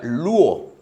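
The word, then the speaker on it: λύω: La palabra griega que Marcos utiliza aquí para traducir al español como rescate es e de un verbo que se pronuncia luo en el griego.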